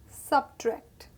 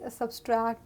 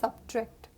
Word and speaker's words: subtract: tour you are getting traveled next word is subtract i have heard people usually say subtract or whatever the correct pronunciation is subtract sub tract next we have another word the